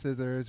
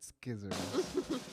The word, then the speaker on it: scissors: I know it's pronounced scissors. We're just having fun with skizzers.